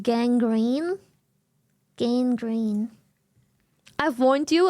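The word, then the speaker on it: gangrene: I need to know don't Google it it's pronounced Gang Green Gang Green I've warned you I'm a strong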